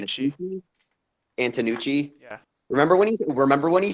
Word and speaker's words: Antonucci: Remember when Danny how the fuck do you pronounce his Danny last name? Antonucci.